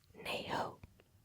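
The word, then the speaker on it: 你好: So Cantonese is similar to Mandarin in saying hello, and it's nei ho.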